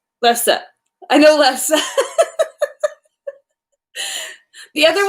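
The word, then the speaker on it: lefse: So there's food in this book that I didn't really know how to pronounce. Actually, one of them I did know. I know Lefska. Lefsa.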